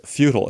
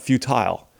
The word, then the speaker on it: futile: say uh Steve it's futile it's futile it's not futile uh see you're over enunciating that second syllable and I've mentioned before